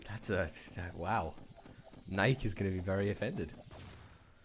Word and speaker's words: Nike: how do you say Nike Nike like that how do you know no there's no Naik excuse me I think